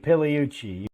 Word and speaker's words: Pigliucci: podcasts videos anything whatever silent G and pillowci that is that's right so just